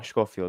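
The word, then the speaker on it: Schofield: stekline and we have kendall uh coiny uh shofield if i'm sorry for the pronunciation oh scofield okay so yeah those so as you can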